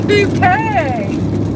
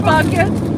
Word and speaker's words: Bucket: It's Bouquet. Is this Hyacinth Bucket? No. Hyacinth Bouquet, the lady of the house speaking. It's spelled B-U-C-K-E-T.